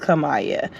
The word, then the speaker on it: Kamaya: start off by saying my name is Kamaya and it's pronounced Kamaya um I know many